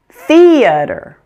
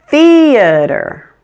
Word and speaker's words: theater: now let's put it all together we have theater theater now that you know the pronunciation let's talk a little bit about word